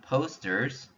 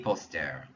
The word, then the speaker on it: posters: So to say some posters, I need to use des. Des posters. Des posters means some posters. Notice, I'm not even pronouncing those S sounds, but because I'm saying des, I know it's plural.